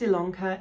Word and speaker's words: Ilanka: yes my name is ilanka it's spelt with an i but pronounced with an e is that right yes